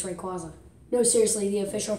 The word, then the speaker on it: Rayquaza: Sorry, it's not even Rayquaza, you idiot, it's Rayquaza. No, seriously, the official pronunciation is actually Rayquaza.